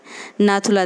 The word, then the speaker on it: नाथुला: ठीक है, अब ज से हो गया जय लेपला दर्रा, और न से नाथुला दर्रा, यहाँ ल जो है साइलेंट है।